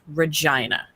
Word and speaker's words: Regina: spelled like Regina, but it is in fact pronounced Regina.